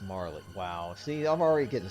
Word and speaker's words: Marle: It's Marley.